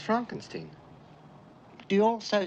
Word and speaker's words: Frankenstein: marty feldman who is he dr frankenstein frankenstein you're putting me on no it's pronounced frankenstein do you also say frodrick no frederick well